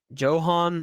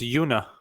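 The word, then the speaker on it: Joona: is that close enough you spell his first name j o o n a oh it's Yuna Ro all right uh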